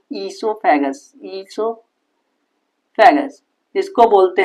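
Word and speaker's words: oesophagus: इसको बोलते हैं ईसो ओसो क्यों लिख रहे हो? अरे स्पेलिंग यही होती है इसकी। ओसोफेगस नहीं बोलते इसको। ई ई ईसोफेगस।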